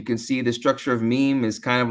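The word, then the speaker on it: ميم: see the structure of meme is kind of like it's not like any other structure you've seen the skeleton and it's pronounced mean basically with the two lips together and then meme that's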